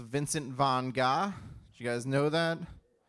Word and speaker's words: Vincent van Gogh: Speaking of names, in elementary school, I also learned that Vincent van Gogh's name is actually pronounced Vincent von Gogh.